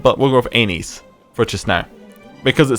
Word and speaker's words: Aenys: most accepted one is Aenys, as how you would say it. That doesn't seem how you would say it based on how, you know, it's spelled, but we'll go with Aenys for just now, because